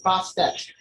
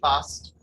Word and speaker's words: Bast: very good offering for her name is sometimes written as Bostitch but that is due to a mistransliteration of her hieroglyphics the second letter T was only to signify a female ending the correct pronunciation should be bust there are many misconceptions